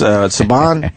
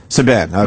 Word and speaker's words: Subban: I guess Saban? Is that how you say Subban. Subban, okay.